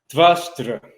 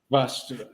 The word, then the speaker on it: Vṛtra: First of all, can you pronounce Vṛtra better for the audience? Vṛtra. Okay. Vṛtra.